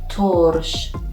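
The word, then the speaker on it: ترش: You can see Zamme above the letter T and it sounds to, Torsh.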